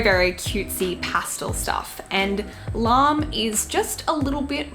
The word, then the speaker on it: LARME: I used to pronounce it Larme, but then people like, it's just Larme.